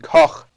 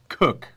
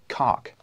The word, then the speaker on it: Koch: And especially if you want to say it right, it's Heckler and Koch. Or if you want to pronounce it in English, you say Heckler and Cook. Because Koch is cook in English. Exactly. But not cock. Because cock is not right.